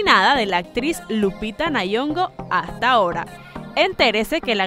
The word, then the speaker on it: Nyong'o: pudimos ver entonces que Lupita Nyong'o, así ahora se pronuncia, sí, de la manera correcta, pues ella va a estar en una película próximamente.